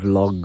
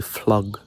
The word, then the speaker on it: vlog: you know, like a vlog vibe. My girlfriend makes sure to correct my pronunciation because I say flog, but she says vlog.